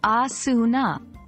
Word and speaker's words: asana: It's pronounced as asuna.